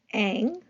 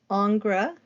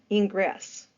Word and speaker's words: Ingres: Jean August Dominique angra sometimes his this look at the spelling of this name sometimes it's pronounced Aang sometimes it's pronounced angra um but again angra it's that artist uh